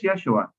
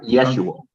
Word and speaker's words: Yeshua: a little bit uh no it's Yeshua yeah yes Yeshua okay excellent not yes you will Okay so for Nan